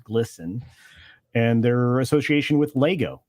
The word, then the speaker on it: GLSEN: So, you know, I surprised a lot of people this week when I released the association between GLSEN, pronounced glisten, and their association with Lego and Target and Kohl's and Bud Light and so many of these other places.